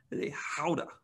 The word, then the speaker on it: gouda: have is is uh your gouda sure or gauda gauda or if you're uh good at pronunciation which i'm not uh from from across the ocean i think they say is that a howda that's how they would